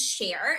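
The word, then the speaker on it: Cher: My name is share. So in front of the air sounds in front of the a sound even though it's spelled ch h e r.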